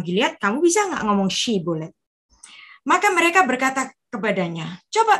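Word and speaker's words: Shibboleth: Shibolet dan Sibolet.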